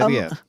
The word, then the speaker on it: Amemiya: Oh oh, it's ah Say "Amemiya." Amemiya. My notes say say it Italian like.